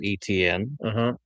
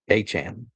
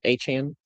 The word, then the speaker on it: Etienne: So his last name, according to him, is actually pronounced Achan. Achan. Achan? Achan. with a little more A in the back end of it. A-chain.